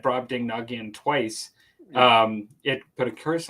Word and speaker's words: Brobdingnagian: Tim says it's pronounced Brobdingnagian. Brobdingnagian.